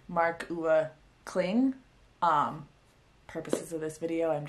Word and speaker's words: Marc-Uwe Kling: I could only find like one pronunciation thing on Google, and I think you say the author's name as marc-uwe Kling.